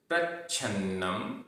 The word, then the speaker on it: प्रच्छन्नम: प्रच्छन्नम आधा छ, प्रच्छन्नम।